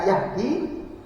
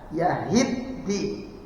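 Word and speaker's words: يَهِدِّي: kali enggak teliti ya jadi langsung dibaca am Yahdi pad Bacanya yahiddi apa bedanya antara Yahdi dan yahiddi Yahdi itu memberi petunjuk kalau yahiddi mendapat petunjuk beda ya beda jauh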